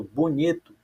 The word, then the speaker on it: bonito: Veja que quando eu falo bonito, o ni, por isso que eu marquei aqui embaixo, ó, é a sílaba mais forte.